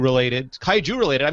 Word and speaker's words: Kaiju: have as usual the uh always entertaining often kaisu related Kaiju related I mispronounced Kaiju Peter as that's paing Peter Cohen